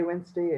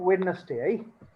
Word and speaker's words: Wednesday: so the next one is days monday tuesday wednesday and it was like on youtube for example